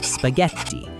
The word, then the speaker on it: spaghetti: To get that hard G sound before an E or an I, Italian brings in a silent helper, the letter H. You can think of this H as a bodyguard or a hardener. It does not make a sound itself, but its only job is to protect that G and keep it sound hard.